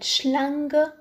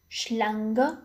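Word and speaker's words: Schlange: إس سي ها تنطق ش مثل كلمة شلانغ شلانغ وهو الثعبان.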